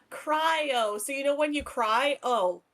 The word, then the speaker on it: cryo: now teach me it's cry o so you know when you cry o cryo the r is silent no it's c r y o cry like the word crying and oh cryo cryo cryo like cryogenics cry cryo